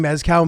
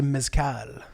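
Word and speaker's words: mezcal: my other pet peeves instead of saying Mescal people say mcal mcal it's really annoying if you don't work at the place dude stop emphasizing the second syllable there you're a turkey turkey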